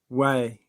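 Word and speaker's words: Huay: the Mexican Yucatan area uh way which is spelled h u a y means sorcerer or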